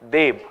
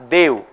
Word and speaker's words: Deb: See, we call, like yesterday there was a name, Raja Radhakant Deb. We pronounce it as Dev. They call it as Deb.